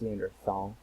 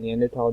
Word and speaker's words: Neanderthal: thought did this research I thought it was pronounced Neanderthal but of course it's pronounced neander Wikipedia says that neander tal DNA is only different from Modern human DNA